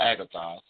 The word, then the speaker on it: agathos: in the greek text the word is agathos a-g-a-t-h-o-s or agatha either way you want to pronounce it sorry about me it